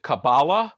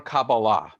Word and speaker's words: Kabbalah: I often gu asked is it cabala or cabala and the answer is yes uh cabala is the ashkanazi way of pronunciation pronunciation of Hebrew like shabus or the prayer Shaw being a Talis and cabala is the sapharic way also the way spoken in Israel um of pronouncing Hebrew which would be talit